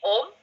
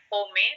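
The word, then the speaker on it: Homme: kita juga ada nih atomy Ohm ya biasa orang bilangnya home tapi karena saya pernah belajar Bahasa Prancis gitu ya jadi bacanya itu O ya jadi 3 rangkaian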